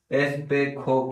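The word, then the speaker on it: espejo: ज को स्पेनिश में ख प्रोनाउंस करते हैं। इसीलिए हमने इस नाम को एस पे जो नहीं पढ़कर एस पे खो पढ़ा है।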